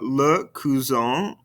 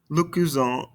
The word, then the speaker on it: cousin: And listen very carefully and repeat very carefully because there is a pronunciation difference in between these two. Répétez-moi, le cousin, la cousine. Le cousin, la cousine.